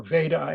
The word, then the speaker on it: Veda: Ved, or Veda as it's written, but Veda as we pronounce it according to the Sanskrit practice, means knowledge, but it means total or complete knowledge.